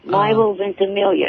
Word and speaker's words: Milo Ventimiglia: Milo Ventimiglia. He's in Heroes. Peter. Oh, Peter. Eric knows the pronunciation.